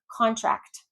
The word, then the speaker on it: contract: Again, if it's a noun, you're stressing that first syllable. That first syllable. Contract, contract.